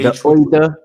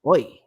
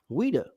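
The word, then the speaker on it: Ouidah: Yeah, the Ouida. That would be how you pronounce it without the WH. It would be it would be pronounced Ouida because it's French.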